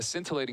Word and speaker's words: scintillating: we have a scintilating is it scintillating or scintillating I think the sea is silent yeah I think it's you don't want the skin they should have just left the the sea out a scintillating second half